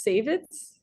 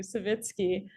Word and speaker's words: Savitsky: his last name was saveits I I'm sure I'm saying it wrong yes yes that's correct thank you savitsky um Greg I'm not